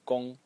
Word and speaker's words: 功: way you pronounce this element over here and gong is the way you pronounce the character as a whole as well.